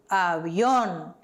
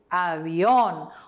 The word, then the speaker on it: avión: El avión, el avión. O V tem som de B, então, el avión.